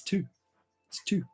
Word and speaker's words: two: Because we don't pronounce it. Like it's not two, but once you start looking at other languages, like in Dutch is twee, and in German it's zwei.